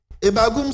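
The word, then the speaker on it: E'bag'um: au 2è mot hebbagou etbagou s'écrit comme sui e B a g apostrophe u m le E ce premier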